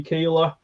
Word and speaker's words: Keeler: I am pronouncing your second name right, Keeler.